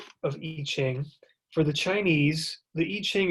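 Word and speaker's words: I Ching: The name I-Ching, pronounced Yi-Jing, literally means classic of changes or book of changes.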